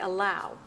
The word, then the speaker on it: allow: the second syllable greet same with a word like allow two syllables oh wow and the strong stress has to be on that second syllable wow I know you know